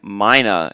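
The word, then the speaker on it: Myna: because she always finds herself in drama um Mina is that what it's pronounced yeah m m y n a Mino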